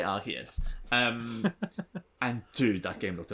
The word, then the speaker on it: Arceus: We're an Arceus family. We say Arceus.